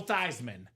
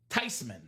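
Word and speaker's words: Theismann: Joe Thyman.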